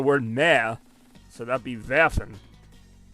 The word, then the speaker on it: werfen: It is spelled werfen. Just imagine the ver for...